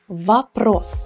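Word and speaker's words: вопрос: noun ros you noticed the unstressed or so we say vapros and vaprossi compliment complement the unstressed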